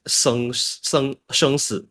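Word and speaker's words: 生死: So the Chinese name is pronounced as Sheng Si.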